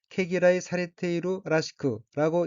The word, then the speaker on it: 毛嫌いされているらしく: 셋째 줄 가운데 어깨는 한자가 한국어로 모혐이고 토록모, 싫어할 혐자로 되어 있고 일본어로는 케기라이 사리테이루 라시크라고 읽습니다.